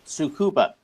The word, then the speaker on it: Tsukuba: The other Japanese place I was referring to, but didn't remember the name, is a little place called Tsukuba. It's spelt Tsukuba.